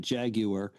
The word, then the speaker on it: Jaguar: That's actually how the British say it. Jaguar.